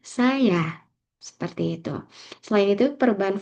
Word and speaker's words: saya: Misalnya dalam bahasa Indonesia, pelafalan saya yang dulu diucapkan dengan tekanan pada suku kata pertama, kini lebih sering diucapkan dengan tekanan pada suku kata kedua. Jadi dulu ee pengucapannya saya, namun saat ini saya seperti itu.